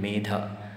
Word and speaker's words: Medha: So wherever there's D-H-A, B-H-A, you make sure that when you pronounce it as an exhalation with a force in there, like Bha, Dha, and not just Da, that would be an Alpa Prana, soft consonant.